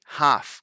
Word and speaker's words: half: We say half. We don't actually pronounce that L.